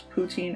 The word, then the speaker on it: poutine: Shady Xion asks, do you pronounce poutine as poutine or Putin?